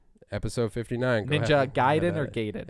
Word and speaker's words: Gaiden: That's probably where the accent is on the den.